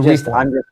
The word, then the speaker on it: Reform: Okay, so Reform. While I'm thinking, but either case, it's the heavy emphasis on the first syllable.